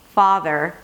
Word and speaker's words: farther: In the word farther, the ah sound is there, so you got to make sure that you pronounce it fully. Fa, and then you bring the tongue up for the R, because you don't want to skip the R, because then it's going to sound like father.